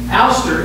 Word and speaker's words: Alcester: have some people coming from Alcester or it's pronounced aler England that are going to